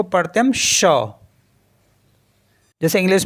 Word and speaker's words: chat: For example CHAT, तो इसको पढ़ते हम शा। शा। शा मीन्स होता है कैट, तो क्योंकि जो T है लास्ट में वो साइलेंट होता है तो CHA बचा है केवल, तो CHA को पढ़ते हैं शा।